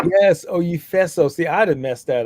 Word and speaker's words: Oyefeso: Yes, Oyefeso. See, I'd have messed that up. I was thinking, Oye. See, now that you've said it, the right pronunciation is in my head, you know?